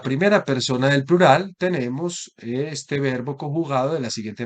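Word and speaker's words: ἐστέ: para ser pronunciada, pero cuando está aislada vamos a encontrar el acento ubicado en la última sílaba, este, es decir, un acento oxítono.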